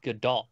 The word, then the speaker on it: Gadot: Yeah, the ones that get me, Gal Gadot is what it's supposed to be. It's not Godot. I still say Godot.